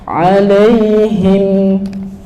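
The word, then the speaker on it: عليهم: Cukup dia segitu aja. Alaihim. Jangan alaihim. Jangan. Itu nanti masuknya rokhawah, tapi rokhawah bukan itu. Rokhawah ada huruf mim enggak? Enggak ada kan? Ya, maka berarti bacanya dia enggak bisa sepanjang itu rokhawah.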